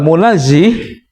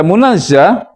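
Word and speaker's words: منزه: Kalau munazzih berarti dia yang menyucikan, nggak mungkin. Jadi logika mengapa dibaca munazzah, nggak mungkin loh malaikat menyucikan dirinya. Tapi kalau kita baca munazzah lebih logik.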